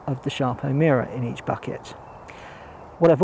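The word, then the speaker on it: Sarpo Mira: It is actually pronounced Sharpo Mira. I checked this. I know it's spelled with just an S, but apparently it's pronounced Sharpo Mira.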